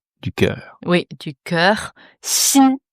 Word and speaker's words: 心: Sin h sin sin. Ouais X I N. Premier ton. Ouais. Si. Donc ce X, prononcez-le comme un ce sin, un peu comme un chat qui rencontre un autre chat.